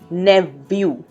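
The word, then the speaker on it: nephew: नेव्यू, ध्यान रखें इसका प्रोनाउंसिएशन है नेव्यू. व आएगा बीच में, उच्चारण में फ नहीं आएगा.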